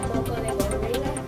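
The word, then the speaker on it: moco de gorila: This is Spanish thing for boys' hair, and it's better to pronounce it moco de gorilla.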